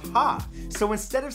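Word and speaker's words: ห้า: In Thai, the number 5 is pronounced ha, so instead of saying ha ha ha ha ha, Thai people will sometimes write 55555.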